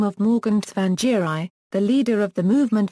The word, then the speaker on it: Tsvangirai: about how to pronounce the name of Morgan Tsvangirai, the leader of the Movement for Democratic Change Tsvangirai in Zimbabwe. The BBC Pronunciation Unit recommended the pronunciation Changii.